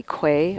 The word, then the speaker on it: quay: He's also given him a Q a U to play Quay, or how do you pronounce it? Key? I always Key.